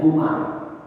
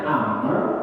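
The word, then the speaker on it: عمرو: kan Enggak ada harakatnya Ini bacanya Amar atau Umar maka lihat di depan huruf ro itu ada bau atau enggak kalau di depan rumah itu ada warung berarti ini orang namanya Amar kalau nggak ada launya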